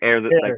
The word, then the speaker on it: Aeir: it or air yeah like air you breathe yeah it's like a playoffs air to the throne if you want to